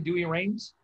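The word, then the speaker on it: Douay-Rheims: yeah doing rhymes or dewey reigns am i pronouncing it correctly dewey reigns yeah do your reams okay watch here during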